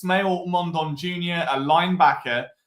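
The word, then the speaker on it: Smael: This time it's Smail Mondon Jr. a linebacker uh pronounced like smile I've just seen in Cory's article.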